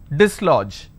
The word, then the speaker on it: dislodge: Dislodge, even though we have the letter D, but we have the sound D only in the beginning. We don't have the letter J, but the G carries the function of J.